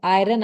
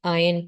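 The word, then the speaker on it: iron: हॉट आयन tube अच्छा आयरन आयरन नहीं कहते आर साइलेंट होता है ठीक है तो रेड हॉट आयन ट्यूब और टेंपरेचर इज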